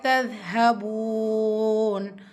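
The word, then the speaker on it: تذهبون: தால எப்படி உச்சரிக்கணும் அப்படின்னா உங்களுடைய மேற்பல் வரிசை உடைய கீழ் ஓரத்துல உங்க நுனி நாக்க வச்சு உரசி உச்சரிக்க கூடியது தான் லெட்டர் தா நான் சொல்றத அப்படியே மனசுல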